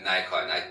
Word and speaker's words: Nikon: It was I don't know how you pronounce it, Nikon? Yeah, Nikon.